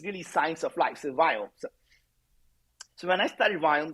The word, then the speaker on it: Viome: So most people who may not know, I started a healthcare company called Viome. And as an Indian guy, I cannot pronounce the word we. So it's V as in Victor.